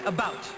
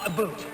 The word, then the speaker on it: about: speak English and French not American and I pronounce it about not a boot I can proudly SE my country's flag and